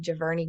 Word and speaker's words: Giverny: the lily pond in his, I think it's pronounced Giverny Garden, but he was so fascinated by this garden that he created hundreds of paintings inspired by this garden.